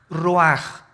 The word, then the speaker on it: ruach: Isaac cosa el ruaj que se escribe r u a c h ruach en el hebreo y se pronuncia igual ruaj Aquí vemos que al